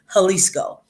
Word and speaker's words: Jalisco: the state of jalisco it's pronounced with an h but it's a j jalisco and um jalisco houses